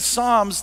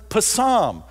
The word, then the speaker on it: psalms: might still think that when you read psalms that you actually pronounce it pasam it doesn't matter who